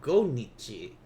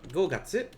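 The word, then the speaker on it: 五月: by the way because it's not go nichi so go gatsu yes that's great go gatsu and then it's got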